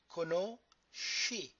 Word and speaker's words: conosci: Tu conosci, because the syllable SCE is she.